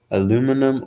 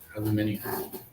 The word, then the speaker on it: aluminium: for Just Two Bucks aluminum or aluminium no actually says aluminium there's no aluminium aluminium that's adding an i that's how it's pronounced aluminium make any sense anyway that's